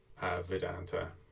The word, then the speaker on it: Vedanta: and vita i think the v is pronounced like a w actually vedanta um so this is